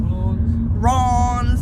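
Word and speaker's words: Raunds: It's in Rounds, or Ron's. How do you say it, Dougs? Ron's.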